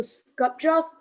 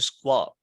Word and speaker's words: sculpture: When you repeat that, you went back to squelp. No, that's not squelp.